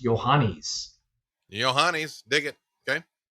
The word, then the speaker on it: Yohannes: Uh, and it's pronounced Yanis. Uh, yo h a n ne and pronounced Yanis.